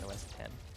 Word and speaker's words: OS X: Because like on Mac, even though it's the letter O, the letter S, the letter X, it's not OS X. It's actually pronounced OS 10.